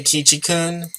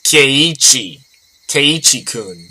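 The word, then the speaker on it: Keiichi: on our way home thanks for coming today key chicken i think i've been mispronouncing that the entire time it's khe khe was it fun yeah lots of fun almost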